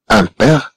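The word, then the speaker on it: impair: لكن في حالة كلمة مثلا إم تكون متبوعة ب أن هذه إم تنطق أن. مثلا كما هنا أمبير أمبير.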